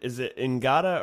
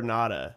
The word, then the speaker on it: Ngata: Is it Ngata or Nada? I don't know if you pronounce the G, but I thought it was Nada, but they were saying Ngata.